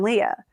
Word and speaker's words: Lia: And Leah Mehta, she spells her name differently, but it's pronounced the same as my Lia.